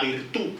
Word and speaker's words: virtud: De hecho, a esta autosuficiencia es lo que Maquiavelo denomina como la virtud, con acento en la U.